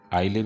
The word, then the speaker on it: isle: आइले भी बोला जाता है, एस साइलेंट होता है, आइसले भी बोल सकते हैं।